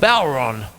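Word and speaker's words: bodhrán: Anytime I do this with mallets, I think of the dear old Bon or as it's spelled, Bodren.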